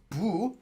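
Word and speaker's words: 不: For example, this is the Chinese character that means not, and this is pronounced as bu, for example, the word 부정하다, but it's also 불, as in 불법.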